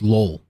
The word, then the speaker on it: Lowell: I said this is Lowell or Lowell. No, I said Lowell, but apparently it's Lowell. Like lulls, lol.